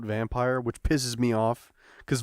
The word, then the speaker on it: Vampyr: mentioned a vampire game it's spelled with the Y but they call it vampire which pisses me off